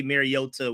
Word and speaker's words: Mariota: we had was that I was pronouncing things with T's like it's a D. We just put a automatic D sound. We don't say Mariota, we say Mariota.